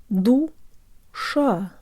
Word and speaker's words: душа: The tongue comes away from the teeth for the second syllable. The tip curves up, but the rest of the tongue is low. Sha. Sha.